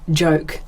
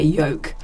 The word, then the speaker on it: joke: Um the earliest one would be that my dad, a Swede, um could never pronounce joke, the word joke, as because Swedes would say yoke.